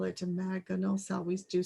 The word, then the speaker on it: imaginal: It's imaginal, actually, not imaginary. Excuse me. And imaginal is the correct biological pronunciation, which is the cell that's innate in the caterpillar that holds the vision of the butterfly.